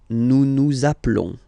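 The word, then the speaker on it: nous appelons: Naplon zaplon. Okay. Final s doesn't exist. Zaplon.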